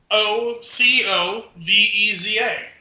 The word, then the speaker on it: Xocoveza: spelling of this word, it's spelled Mexican because it's got an X as the first letter. Xocoveza. And I'm actually pretty proud of myself. I actually figured that's how it was pronounced once I kind of played around with the word.